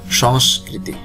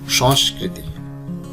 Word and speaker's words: সংস্কৃতি: সংস্কৃতি। উচ্চারণ, শব্দটির উচ্চারণ অনেকে ভুল করে সংস্কৃতি।